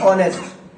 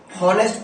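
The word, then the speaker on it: honest: लेकिन अब एक वर्ड है ऑनेस्ट। अब कुछ लोग इसे हॉनेस्ट पढ़ते हैं, जबकि प्रॉपर प्रोनाउंसिएशन होती है ऑनेस्ट।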